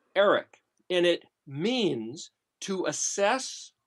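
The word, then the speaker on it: ערך: But if you look at, and I know we haven't gone through the letters yet, but if you look at Ayin Resh Kaf, it's basically pronounced Eric, and it means to assess, to evaluate, to determine something's worth that you otherwise had no regard of.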